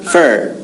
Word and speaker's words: for: i'm looking for cool so we don't say for but we say fur this is for you